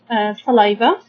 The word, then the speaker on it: saliva: Also, we have in the mouth saliva. Saliva, we can divide it into 3 syllables. Okay, sa. Then we have l, I, li, salai, and then we have the va, saliva.